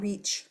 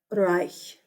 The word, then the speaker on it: Reich: It's not Reich. It's also not reach. I hear that every year from kids. Reach. I was about to say something. Reich. Now, if you can't say the sound at the end, just say a hard C. Reich. Just know it's wrong. But it is not reach. Don't you dare let me hear you say that.